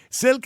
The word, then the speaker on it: Silke: Now, I'm going to pronounce her name wrong, am I? Because her name is Silke, is it? Silke, yeah, hello.